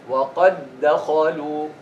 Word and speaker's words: وَقَدْ دَخَلُوا: Merge them. When you have a letter followed by them. A letter that is sakin followed by the same letter which is mutaharrik. Drop the first, stress the second.